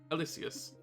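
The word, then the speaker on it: Aloysius: miles's dad's name again alysus AL l o y s i u s ooous yeah Alois alysus the oh was silent I never heard it pronounced that way Mary there's a college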